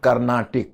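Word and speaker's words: Carnatic: this is better to write karnatic it is pronounced karnatic that is a better substitute karnatic my friend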